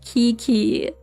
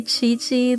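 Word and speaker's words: Qiqi: You will still call her Kiki. That's the funniest one to me because it is the one that is nothing like how you say it. Like maybe you can say Chi-Chi, that's alright. It's somewhat like it. But Kiki, come on. You can do better than that.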